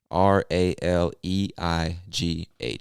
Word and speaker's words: Raleigh: i would say raleigh r a l e i g h so don't let that spelling confuse you we pronounce it raleigh raleigh north carolina all